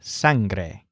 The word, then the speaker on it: sangre: blood as sun grey so it sounds like sand grey sangre on the right side